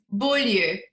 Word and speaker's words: Bolyeu: My last name is pronounced bull and it means beautiful place in English and it means beautiful place in English.